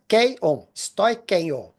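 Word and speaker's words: στοιχεῖον: Mas, ó, a pronúncia é stoikeion, né? Do grego, né?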